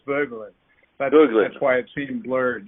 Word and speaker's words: Voegelin: So the German pronunciation is Voegelin.